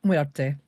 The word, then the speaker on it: Muerte: It's Muerta or Muerte, I guess, depending on the pronunciation, right? Which would you prefer there? It's Muerte. Muerte. Muerte.